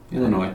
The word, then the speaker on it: Illinois: You don't say Illinois? You say Illinois. Who does? I was like, huh? Illinois. Illinois. You got it right that time. S is silent. It's French.